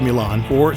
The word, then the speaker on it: Milano: Took a train across the Italian border to Milan, or as the locals pronounce it, Milano.